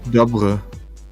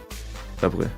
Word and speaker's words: Dobry: The Y in Dobry is kind of pronounced like the I in fish. Fish. So it's Dobre. Okay. Dobre, yeah.